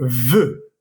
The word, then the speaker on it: veux: o la segunda persona se dice veux, je veux. Entonces ese EUX vas a pronunciarlo así, e. La EUX, que como vimos anteriormente, igual la X al final no va a tener ninguna influencia. Entonces va a ser la misma pronunciación.